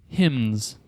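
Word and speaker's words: hymns: final Jeopardy category is hyms that's h y MNS that's right try to pronounce the N there HS Andy I will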